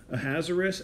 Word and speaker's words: Ahasuerus: And again, the author portrays Ahasuerus. I know a lot of people want me to pronounce it a different way, so there's another way to pronounce the king's name. Ahasuerus, as tossed about by